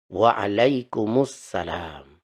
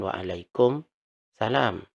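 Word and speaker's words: وعليكم السلام: kemudian dijawab Waalaikumussalam Waalaikumussalam jadi yang benar bacanya Waalaikumussalam bukan Waalaikum salam di sini harus disambung karena di sini ada alif lam Samsi Waalaikumussalam kita sudah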